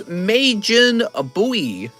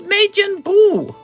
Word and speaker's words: Majin Buu: and universe 9 and is majin a buoy it's majin buu that's not how you say his name mister all right very